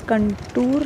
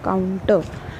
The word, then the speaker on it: contour: Please focus on the pronunciation. It is contour, not counter.